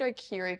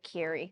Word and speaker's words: Okaeri: Where did Okaeri come from for us? The proper pronunciation is obviously Okaeri, but we've also given people that option if they can't say it, Okaeri, like Hey Siri.